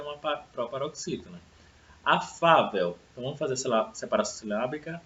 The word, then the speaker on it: afável: Afável. Então, vamos fazer separação silábica. Afável, né? Então, a sílaba tônica é o Fá.